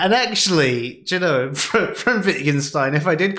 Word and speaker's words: Wittgenstein: like to say uh not whittergenstein as how i used to pronounce his name before i heard anyone else say it it was close enough